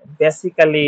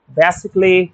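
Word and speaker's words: basically: C double LY বেসিক্যালি ড্রামাটিক্যালি এরকম করে বলি না। ক্যালি হবে না। এটা হবে। বেসিকলি ড্রামেটিকলি এরকম।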